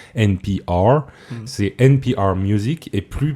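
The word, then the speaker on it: NPR: musique maintenant alors c'est américain du coup on prononce NP are c'est NBA Music et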